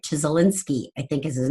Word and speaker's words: Csikszentmihalyi: And Flow is a book written by Mihaly, I never say it right, Csikszentmihalyi, I think is his name.